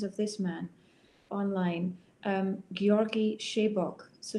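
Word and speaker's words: Sebők: So one of my very favorites, and you can also listen to masterclasses of this man online, Georgi Shebok. So Shebok is spelled S-E-B-O-K.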